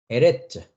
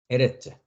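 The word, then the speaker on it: ארץ: 그 다음에 알렙은 묵음이었죠. 밑에 뭐가 있습니까? 똑같이 여기처럼 쇄골이 있습니다. 즉 에 발음이니까 에 해주면 되죠. 에. 그 다음에 똑같습니다. 여기도 레시 밑에 쇄골이 있듯이 레시 밑에 쇄골이 있으니까 레가 되겠죠. 그 다음에 짜대니까요. 네, 그래서 에레츠, 에레츠, 에레츠 땅이라는 뜻입니다.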